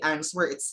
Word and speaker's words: answer: and uh two could recall the silent w okay in answer so that accident was was able to realize that i should not be pronouncing the answer word it should not be answered it's an answer then right and wrong so the w uh the w the sound should not be pronounced so there is like